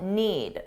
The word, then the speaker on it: need: now let's talk about need notice that I didn't pronounce the d need because if I do that it forces me to take a pause which slows me down so if you don't